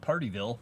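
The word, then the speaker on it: Pardeeville: a town There's also one called partyville but it's called it's spelled p a rde e ville so yeah buddy I'm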